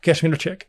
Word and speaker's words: Kashminderchik: Polish lady had to tell me, no, I tell you how you pronounce her name. I tell you. I was like, okay. So she was like, Kashminderchik. I was like, not how I pronounced it before.